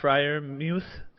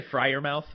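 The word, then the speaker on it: Freiermuth: this week is Pat frier MTH and the you know you did a good job you pronounced it right I got it right a little bit of a I wanted to say frer mouth but did not uh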